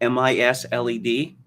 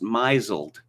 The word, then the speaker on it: misled: trouble with a lot of these like mis m-i-s-l-e-d well it's pronounced misled but i just thought according to the rules of english pronunciation it should be pronounced mizelled and i'm afraid i got ridiculed more than